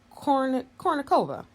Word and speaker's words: Kournikova: Kournikova.